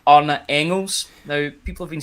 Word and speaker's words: Engels: say his name, Arne Engels. Now, people have been saying it's Engels, but I've got it under good authority that it's Engels for the player. You don't pronounce the G.